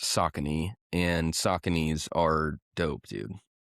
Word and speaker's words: Saucony: But at the end of the day, I'm going to have to wear Skechers and Saucony and Asics at some point here in the near future.